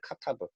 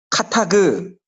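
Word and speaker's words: כתב: 카타브. 따라합시다. 카타브. 카타브. 카크. 카타브. 정동지 발음 뭐 이상한 거 얘기했어. 정확하게 카타브. 카타그. 그가 아니고 브.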